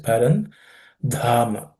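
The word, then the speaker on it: परन्धाम: The dha has to be aspirated. It's the fourth letter in the class of consonants. So pay attention. Parandhama.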